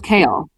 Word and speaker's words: Chaol: Chaol, Amanda is right. Chaol. I still can't say it right. Chaol. It's kale. It's Kale. kale.